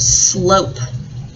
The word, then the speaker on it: slope: This says slop, so I'm going to need once again a silent letter E on the end to make the word slope. Slope. The E makes the O say O.